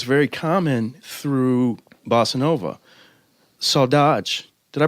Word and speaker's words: saudade: theme that is very common through bossa nova so dodge did I pronounce that right oh so dodgy so this is really one of the reasons